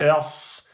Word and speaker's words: ص: Il faut rentrer un peu plus la langue, la soulever plus vers l'arrière et prononcer d'une emphatisation.